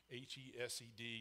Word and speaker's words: hesed: in English, is hesed, H-E-S-E-D, you'll see, or sometimes you'll see it C-H-E-S-E-D, because it's actually, if you're going to pronounce it, it'd be hesed, a little guttural sound.